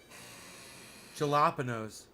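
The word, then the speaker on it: jalapeño: are you saying jalapeno the j is silent no it isn't did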